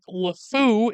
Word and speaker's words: LeFou: The name of Gaston's sidekick, LeFou, is pronounced just like the French words meaning the idiot, the fool, or the insane.